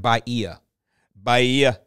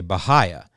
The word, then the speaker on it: Bahia: so this is how Wikipedia says you should pronounce bahaya okay well I don't that sounds like baiah okay I'm gonna get some Bahia grass hey